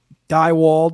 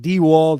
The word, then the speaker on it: Dewald: Twitter at Seth underscore die walled even though he says it dewald he spells his own